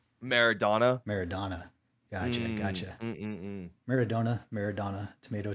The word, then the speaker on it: Maradona: a million worth yeah they say it's it's pronounced donna by the way maradona maradona gotcha maradona maradona